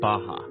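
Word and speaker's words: Barra: is the place called Baja ours are pronounced like eh Portuguese this is a new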